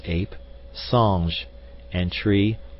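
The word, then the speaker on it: singe: in the same way he was taught to pronounce ape Sange and tree arber he was a most eager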